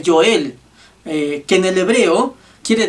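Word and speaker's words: Yoel: muchos eruditos tal vez la pronunciación más exacta sería el yo el que en el hebreo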